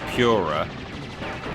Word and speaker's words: Pura: And the cat, which I've heard some people call Pura, because his name is P-U-R-A, but I would have thought it's pronounced Purra, as in it's an animal that purrs.